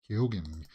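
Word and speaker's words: Keoghan: says he uses the he pronounces the G in his name okay well happy birthday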